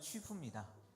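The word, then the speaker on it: 曲阜: 예, 그 다음에는 이제 곡부를 하고 중국의 중국어 발음을 하면 취푸입니다. 예, 공자 고향인데요.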